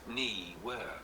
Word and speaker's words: Neewer: The brand name is pronounced Ner.